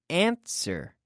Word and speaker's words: answer: contestar which is to answer answer now here we do not say ants were know we say answer answer the W is silent comprar the verb comprar